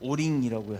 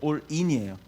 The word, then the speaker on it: 올인: 근데 그걸 잘못 발음을 해서 오링이라고 하더라고요. 오링이 아니라 모든 가진 걸 다 집어넣는다 해서 올인이에요.